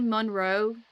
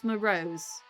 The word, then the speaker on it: Marose: I keep wanting to say Monroe or Maro. It's Marose.